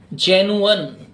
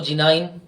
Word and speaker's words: genuine: Proper pronunciation इसका होता है जेनुअन। कई लोग इसको जिनाइन बोल देते हैं, कई लोग इसको जीनियन बोल देते हैं, कई लोग इसको जिनुअन बोल देते हैं। जिनुअन इज द प्रॉपर प्रोनाउंसिएशन।